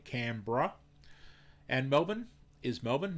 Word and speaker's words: Canberra: brisbane sydney is sydney canberra is canberra but we say canberra we just for some reason most of us we cut out the e and we say canberra and melbourne is melbourne